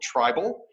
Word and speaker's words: Tribyl: Professionally, I am the Vice President of Customer Success for a company called Tribal. That's spelled Tribyl.